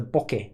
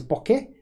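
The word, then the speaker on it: bokeh: expert but there is Boke where it goes up at the end and there's B where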